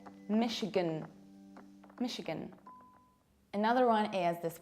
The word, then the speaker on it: Michigan: Our next state is this one, Michigan, Michigan. What happens here? Look, I don't say Michigan, I reduce it. So as a result, I say Michigan, Michigan.